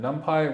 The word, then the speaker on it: NumPy: Numpai rhymes with lumpy.